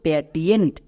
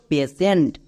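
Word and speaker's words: patient: এর উচ্চারণ করছো প্যাটিয়েন্ট। প্যাটিয়েন্ট হবে না। কারণ দেখো শব্দের শেষে টি আই ই এন টি আছে। এর জন্য সেন্ড উচ্চারণ হবে।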